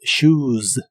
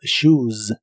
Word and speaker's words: shoes: La palabra shoes se pronuncia con una U larga y al final también termina con el sonido vibrante de la S o Z inglesa. Those shoes, those shoes.